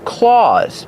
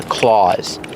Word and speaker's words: claws: And on each paw, she has claws. Not nails, but claws. Pronunciation. Claws. Use the a sound like Santa Claus.